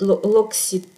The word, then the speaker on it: L'Occitane: И L'Occitane всегда имеет L'Occitane, как по-русски это произносится, L'Occitane, всегда имеет почти вот этот аромат в своей линейке.